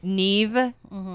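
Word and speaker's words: Niamh: um doesn't look like ca uh mave n Neeve oh man all of them yeah so The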